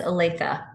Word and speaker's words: Olathe: Oh, yes, Olathe. Olathe Public School. Does not follow syllable rules.